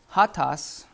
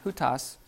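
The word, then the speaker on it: οὗτος: in Greek you have the near which is hot toss or ya who toss I mean who toss and you have the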